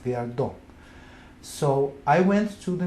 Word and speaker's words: Viardo: His name was Vladimir Viardot. And in America it's pronounced Viardo, but because it's French name, the accent should be on the last, Viardot.